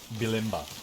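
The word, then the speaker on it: Bulimba: name to it sorry how's that how's that pronounced bilimba oh because i thought you i thought i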